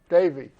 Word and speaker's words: Devi: devi divyadevi lakshmi devi davey okay it's pronounced as an a and today's prophetic topic